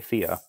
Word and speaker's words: Thea: So I'm just going to kind of go with the more popular pronunciation. And so, yeah, it's been Thea for a while now.